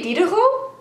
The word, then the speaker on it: Diderot: Harold we're getting enlightened can you say Dio can you that's not how it's spelled but that's how we say it today Harold and I